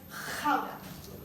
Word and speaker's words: Gouda: we only make gaura cheese in holland we pronounce it as haga the red is the natural yellow is the